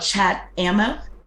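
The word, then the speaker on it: Chatammo: software again Chad ammo so it's called chat ammo hmm c-h-a-t-a-m-m-o omo that means the the bullets kind of um yeah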